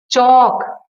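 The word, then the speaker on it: chalk: नहीं लिख रहे हो, यहाँ पे एल साइलेंट है, तो चौक, च लिखा, ऑल का सिर्फ एक एल खा गए, और क मीन्स के लगा दिया, हो गया चौक।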